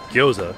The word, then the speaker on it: gyoza: We also got vegetable gyoza, which, by the way, I found out from them how to pronounce it. Gyoza. Oh, okay. It's nice. Like you kind of just like say it all together.